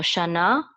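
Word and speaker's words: שָׁנָה: to say sha, and this is a nun. I'm just going to make that n sound. This is another kamatz. We're going to say na. So shana.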